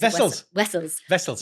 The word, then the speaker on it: Wessels: I was like, is Vessels. Wessels. Like Kepler Wessels, who was a South African cricketer.